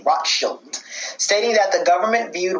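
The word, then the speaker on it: Rothschild: the zionist movement baron rakshi i'm not saying his name right i'ma spell it for you guys r o t h s c h i l d rock shield stating that the government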